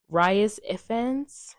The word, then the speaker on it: Rhys Ifans: Stone, and then I don't know how to pronounce this man's name. Rhys Ifans. It's Rhys.